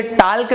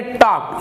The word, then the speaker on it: talk: देखिए TALK, तो आप इसे टाल्क नहीं पढ़ेंगे, आप इसे पढ़ेंगे टॉक, ये होता है टॉक, TALK।